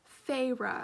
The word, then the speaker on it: Feyre: of color was only used to help bring feyre back to life did i say her name right let me look this up because there's a pronunciation guide i need to be smart and use this feyre i was correct so those two characters of